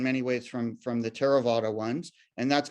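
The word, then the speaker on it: Theravada: classes two categories there's terravata Buddhism spelled with a I'm down here if you see my cursor spelled with a th but it's just pronounced it's a t and that's the type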